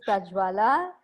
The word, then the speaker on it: Prajwala: be here and ectorina you have not butchered our name uh it is prajwala and yes you've got it right and and you say